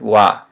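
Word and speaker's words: は: it's pronounced it's written ha pronounced wha so it's a particle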